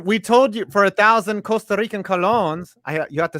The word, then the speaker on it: Costa Rica: The Rammers line, we told you for 1,000 Costa Rican colones. You have to say Costa Rica. You have to roll your R's.